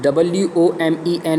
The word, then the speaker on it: women: WOMEN is women, whereas WOMAN is woman.